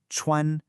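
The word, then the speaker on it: 穿: Next, we have our verban pronounced chuan. Really listen to that high flat first tone.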